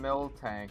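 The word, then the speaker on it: Miltank: Yeah, it's it's always been mil tank just without the K.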